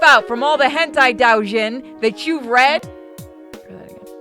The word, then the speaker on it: Doujin: I know it's Doujin. I said it wrong on purpose.